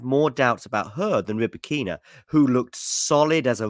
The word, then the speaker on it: Rybakina: But the Rybakina, or Rybakina, by the way, I believe it's Rybakina. Let me know in the live chat whether you put the emphasis on the first or the second syllable. As far as I'm aware, listening to her speak, it is on the second syllable, so I'm going to try and remember to call her Rybakina.